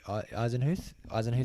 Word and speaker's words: Eisenhuth: Matthew Eisenhuth, I think.